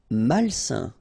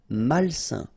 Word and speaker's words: malsain: Malsain. A-I-N together, it's a nasal and it's un. Malsain.